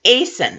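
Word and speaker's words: Aeson: Atlanta and pronunciation but in English it's like Jason without the J so it's Aysen it's very very simple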